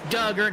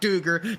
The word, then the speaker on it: Duggar: Oh, Christian Lynn in the chat says it's Duggar, not Duger. The announcers are saying it right.